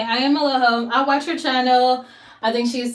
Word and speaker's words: Eloho: I am Eloho.